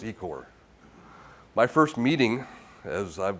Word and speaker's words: Ecoer: we do by the way it's called it's pronounced ecore my first meeting as i've been with the